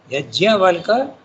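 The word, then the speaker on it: Yajnavalkya: Yajnavalka, you have to pronounce the JN when you write in English, but in Sanskrit it is Yajnavalka.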